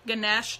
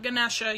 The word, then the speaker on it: Ganesh: and my obstacles cuz Ganesh not Ganesha you don't its Hindu you don't pronounce the a the elephant god um